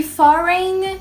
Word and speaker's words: foreign: E foreign é estrangeiro. Pega outra dica de pronúncia aí, ó.